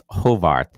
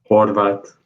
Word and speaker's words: Horvath: We're bringing on Tomas Hovarth. Is that correct pronunciation? Horvath.